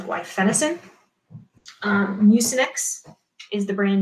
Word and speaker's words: guaifenesin: That's how I pronounced it. Some people pronounce it differently, but I learned it as guaifenesin.